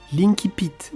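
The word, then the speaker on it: incipit: Aujourd'hui, on va parler des premières phrases d'un roman L'entrée en matière Linky Pit dans sa prononciation latine.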